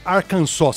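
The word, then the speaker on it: Arkansas: Primeira delas, Black Oak, Arcansa.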